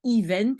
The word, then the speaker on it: event: anglais qu'on utilise alors on dit pas event mais event on prononce à l'anglaise ou on peut dire